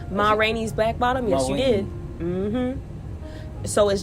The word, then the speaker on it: Ma Rainey's Black Bottom: Ma Rainey's Black Bottom.